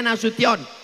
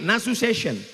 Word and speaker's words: Nasution: Cara bacanya Nasution. Karena ada orang naik pesawat sampai di airport transit dipanggil namanya orang orang metu. Kenapa dia salah dengar waktu dipanggil Nasu session?